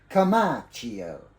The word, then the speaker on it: Comacchio: pangalan ngo ba yun kamacho Dapat ganito ang pagpronounce mo nasa Italy kamacho ganon o may arte may